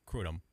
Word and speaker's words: kratom: Uh kratom or kratom? Do I know Yeah, I asked Google and it's like it's like krootum. No. It is such a weird pronunciation.